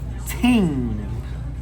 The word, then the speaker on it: Ting: Pronounced Ting. It really means like things. That's how you say things. We say ting in patois.